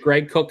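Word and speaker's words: Greg Koch: There's both of the Cooks, both Jim and Greg, and Greg Cook is the owner and founder of Stone Brewing.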